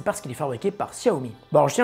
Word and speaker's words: Xiaomi: prix défiant toute concurrence ah au fait on prononce Xiaomi et si vous pensez que j'ai tort mais